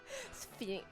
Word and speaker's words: SPHOENIX: SPHOENIX. So I've got to remember Alright. that and pronounce it properly.